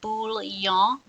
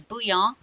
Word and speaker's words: bouillon: It is not bouillon, it is bouillon because it's French.